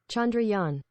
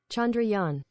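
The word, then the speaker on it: Chandrayaan: castle the spacecraft that landed on the moon Chandra Yan chandrian there you go one more time Chandra Yan let's do it slow Chandra Yan so there you go chandrian landed on the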